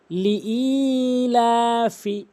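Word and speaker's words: لِإِيلَافِ: সঠিক উচ্চারণ হচ্ছে লি অবশ্যই হামজা দিয়ে ইয়াকে ধরতে হবে জজমের কারণে এবং এক আলিফ টেনে পড়তে হবে ই হামজা ইয়াজের ই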